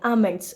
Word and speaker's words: almonds: Okay, it's when we say almonds, L is silent, almonds.